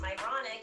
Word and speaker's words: Myronuk: when I even though my last name is pronounced moronic and people have these